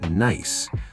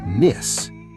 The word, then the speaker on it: nice: Let's teach the pronunciation of nice. Some students say "niss". Oh, you're right. The I sound is long, like n ice.